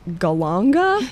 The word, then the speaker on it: galangal: and there's this ingredient I think it's pronounced go longer she doesn't know what